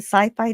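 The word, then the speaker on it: Syfy: that feature on the Sci-Fi Channel. Now it's spelled Siffy, but I'm supposed to still pronounce it Sci-Fi.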